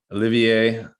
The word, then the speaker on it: Olivier: Actually, Olivier, when you said Olivier, it's really, really good. Normally, people that speak English have a lot of trouble with my first name.